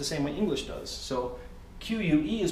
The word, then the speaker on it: que: So every letter is pronounced. Now, if you see here at the very end, it says que, that's the Spanish word for what.